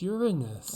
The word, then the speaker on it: Uranus: hard oh my god she said it's properly pronounced uranus i know i'm so